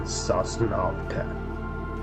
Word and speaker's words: Sosnovka: Actually, I think I was playing Sosnovka.